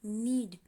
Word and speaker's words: knead: ए आ गया है, थोड़ा सा स्पेलिंग का अंतर है, लेकिन दोनों को ही नीड बोल रहे हैं। दाहिने तरफ वाला स्पेलिंग है KNEAD, नीड।